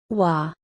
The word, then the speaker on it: Wa: Japan are from Chinese sources from this period wah the Japanese pronunciation of an early Chinese name for Japan